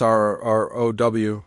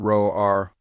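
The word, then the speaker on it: rrow: It's R-R-O-W, not Ro-R. You sound like you're asking for food instead of saying hello.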